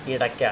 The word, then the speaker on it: ഇടക്ക: ചില സ്വരങ്ങൾ ചേർത്ത് പറയും അടക്ക ഇടക്ക ഇടക്ക ഇങ്ങനെ മൂന്ന് തരത്തിൽ ആളുകൾ ഇതിനെ വിളിക്കാറുണ്ട് ഇടക്ക എന്ന് പറഞ്ഞാലും ഇടക്ക എന്ന് പറഞ്ഞാലും അത് ശരിയാണ് കാരണം ഇതിന് ശരിക്കുള്ള പേര് ഡക്ക എന്നാണ് ഡക്ക എന്നാണ് ശരി അപ്